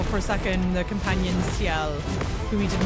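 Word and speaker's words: Sciel: actually in the game they spell it with an S It's s c i e l i my assumption is that they've included the S so that non French speakers would understand how to pronounce seel cuz I don't think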